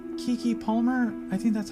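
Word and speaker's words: Keke Palmer: work uh then we had i think it's kiki palmer i think that's how you pronounce her name as the oj's sister um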